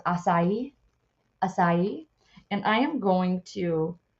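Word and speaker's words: açaí: learned how to pronounce this this is actually pronounced acai and I am going to see what it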